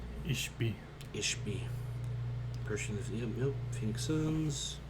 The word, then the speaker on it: Ishbia: It's Ishbia.